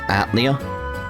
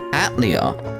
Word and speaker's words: Atelier: point out like it it's not pronounced that i'll open and think it this way they're like oh yeah yeah that's how we want to pronounce it it's like so that means the fact they went with atlia wasn't a mistake it was a